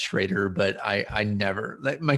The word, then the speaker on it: Schroeder: here I am no it's a it is pronounced shraer but I I never my kids are always